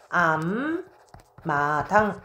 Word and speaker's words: 앞마당: 자 그러면 마당 보겠습니다 읍이 대표 자음인 비읍으로 발음이 됐어 음절의 끝수로 규칙 사용된 거죠 그래서 일단은 앞마당 이렇게 사용이 됐네요 자 그런데 받인 비음이 이렇게 음하고 만났습니다 그래서 발음이 어떻게 바뀝니까 요렇게 바뀌죠네 그래서 암 마당 이렇게 된다고요 자 21번 보겠습니다 21번은